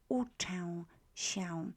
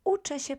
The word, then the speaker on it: uczę: notice here is that the U letter is pronounced as U in Polish, as double O. So uczę się. You already know CZ is ch, as in cześć, right?